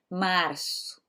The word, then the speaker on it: março: Então aqui é março, março. Vocês vejam que é praticamente, se ouve sutilmente o R, né? Eu não falo março, março. Eu falo março, março, é bem sutil.